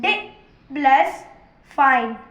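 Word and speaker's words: define: f + i = 5 एंड n एंड e = इन और ई इस word में साइलेंट है। अब डि + फाइन = डिफाइन डिफाइन और अगले दिन हम आपको नए।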